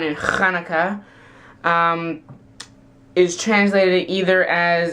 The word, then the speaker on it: Hanukkah: box and set the Hanukkah decorations and yes from now on I'm going to the sound instead of an H that's how it's supposed to be pronounced I love the irony